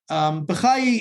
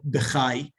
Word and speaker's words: Bachya: B'chai is often used, is probably not accurate. Another possible one is Rabeinu Bachya. This was preferred by Professor Mor Steinschneider, the great encyclopedist.